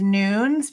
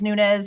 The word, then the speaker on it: Nunes: Maybe, but I mean, the officer's last name is Nunes because it's spelled with an S, and his co-workers in the body cam address him as such. We thought it was Nunez up until the body cam.